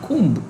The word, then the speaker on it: comb: You see the way I'm using particularly the word comb is, it's not comb, right? C-O-M-B is pronounced as comb, like tomb, T-O-M-B is pronounced as tomb.